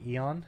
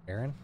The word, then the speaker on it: Aaron: love that damn dates I couldn't say my name for a short period I'd say Eon it's Aaron that's adorable eon or